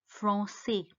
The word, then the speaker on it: français: The last letter R is silent, so it's parler. The next word is French. The language French is called français.